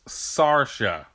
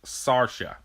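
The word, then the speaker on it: Saoirse: yeah I feel embarrassed I was pronouncing her name wrong throughout this entire video so I just want to apologize it's Sasha it's Irish Sasha hope you enjoyed the rest of the video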